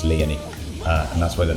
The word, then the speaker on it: Lyonii: actually how it's pronounced, but I took the end part of that name and I twisted the way you pronounce it. It's just Leani.